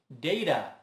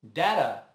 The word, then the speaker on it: data: Se você disse data, está correto. Mas se você diz data, também está. Essa palavra também é do latim, datum. E sempre foi muito usada, mas a partir da internet, o data ficou mais popular. Em torno de 80% é pronunciado dessa forma hoje em dia.